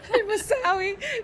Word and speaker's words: Al-Mousawi: Al-Mousawi.